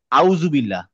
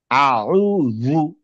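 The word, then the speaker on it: أعوذ: থেকে আউজু আউজু না জু মানে এটা দ এর মত দ আউজু হ্যা তারপরে এটা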